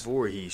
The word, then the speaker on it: Voorhees: I've never been able to pronounce it correctly. I think it's Voorhees? Voorhees, yeah.